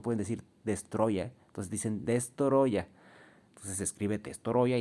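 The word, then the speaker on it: Destoroyah: Que hay gente que le dice Destroya, pero no es Destoroya. Porque no, los japoneses no pueden decir Destroya, entonces dicen Destoroya.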